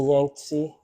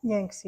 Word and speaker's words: Yangtze: You mean the Yangtze? Yangtze, yeah.